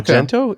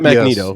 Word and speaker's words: Magento: Yeah, Magento. Is it Magento? Not Magneto. Yeah, I thought it was Magneto. Magneto. I like Magneto. Magneto. There's a Magneto. It really is Magento.